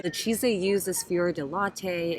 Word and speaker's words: fior di latte: The cheese they use is fior di latte, and that's not how you pronounce it. Fior di latte. Let's just pretend that's right.